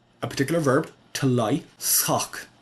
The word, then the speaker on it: shǒǒk: This is a particular verb, to lie, sock. It's a little tricky to pronounce because this sh, it's not sh, it is s. It's an s followed by a h or followed by a velar fricative, depending on how you pronounce it.